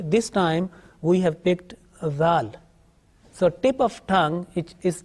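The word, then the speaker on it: ذال: Now make sure that the letter Zal should be pronounced with thin and soft sound.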